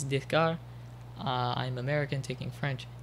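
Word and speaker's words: Descartes: dear is how you if you say it with a French accent is desar uh I'm American taking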